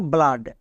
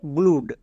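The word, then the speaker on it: blood: কিন্তু আকার ইউজ করব যেমন দেখো ব্লাড একে অনেকে ভুল উচ্চারণ করে বলে ব্লুড কেন কারণ তারা জানে যে ডবল ও এর জন্য হস্তকার হই তাই করে ব্লুড বাট এর উচ্চারণ হবে ব্লাড কেন আমরা সবাই জানি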